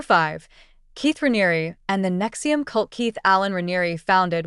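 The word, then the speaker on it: NXIVM: The organization operated under the name Nexium, pronounced as Nexium, and initially attracted thousands of participants, including successful professionals, actors, and wealthy individuals seeking self-improvement.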